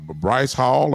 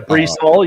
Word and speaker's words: Breece Hall: good running back and Bryce Hall? I believe I pronounced him right. Yeah, Breece Hall.